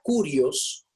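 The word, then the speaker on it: κύριος: Mira, la palabra curios, traté de escribirla para que se pronuncie en español con el énfasis en el Q, curios, aparece en el Nuevo Testamento 662 veces.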